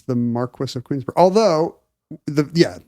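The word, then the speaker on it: Marquess: it's called It's pronounced Marquis um I'm gonna say yeah wow I mean I learned so much from you Ken well Marquee would be the French title right right right but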